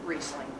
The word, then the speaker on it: Riesling: When you have 2 vowels together, you always pronounce the second one. Riesling is R-I-E-S-L-I-N-G. The E is the second one. It's pronounced Riesling.